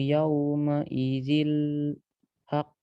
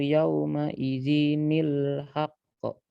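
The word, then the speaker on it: يَوْمَئِذٍ الْحَقُّ: Wal waznu yawma idzil haqq. Nah, salah bacanya. Coba diperhatikan lagi. Wal waznu yawma idzil haqq. Di sini ada tanwin. Dia menjumpai hamzah wasal. Iya. Wal waznu yawma idzinil haqq.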